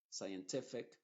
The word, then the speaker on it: scientific: con s c y la c es muda y la s es la que se está pronunciando Science scientific czer y así lo